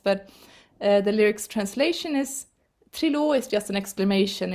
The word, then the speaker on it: Trilå: Å, like all. So when you see that A with the dot, it's å. And this is the pronunciation of the lyrics. Trilå, Trilå. Här är han, nära till land, Trilå.